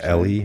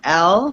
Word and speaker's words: Elle: that right is it Ellie are we saying Ellie or he yeah actually no my name is Elle it's pronounced Elle okay but my guess